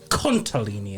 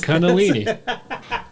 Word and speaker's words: Kundalini: section with something called Kundalini energy kuntalini energy kuntalini sorry what'd you say Kundalini energy yes it's Kundalini some good stuff it's